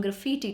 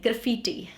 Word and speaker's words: graffiti: Now, this word, graffiti, it has more or less two pronunciations. You call it graffiti, and then there is an Indian pronunciation which is also acceptable, which is graffiti. Okay, so graffiti is Indian and graffiti is American or British.